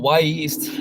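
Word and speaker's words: Wy'east: what that name is it's spelled wy apostrophe east so it can come off as a little choppy but out here in the northwest it's the native american name from mount hood which is the the volcano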